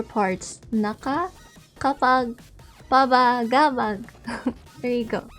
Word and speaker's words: Nakakapagpabagabag: Okay, so the way that you pronounce the title of my song is, you can actually split it into 4 parts. NAKAKAPAGPABAGABAG. There you go. NAKAKAPAGPABAGABAG.